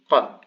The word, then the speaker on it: qāf: It's like a K, but it's very backwards in the throat. It goes qa, qi, qu, qa, qi, qu.